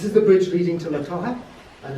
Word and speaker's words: La Toja: Well, I don't know if you know, but this is the bridge leading to La Toja. Is that the way to pronounce it? Yeah. This is the bridge leading to La Toja, and it's a road which goes straight over.